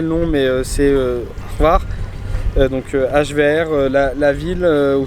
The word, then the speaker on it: Hvar: Ensuite on a visité un peu l'île, on est allé, je sais toujours pas prononcer le nom mais c'est Hvar, donc HVR, la ville où c'était une petite ville un peu tranquille.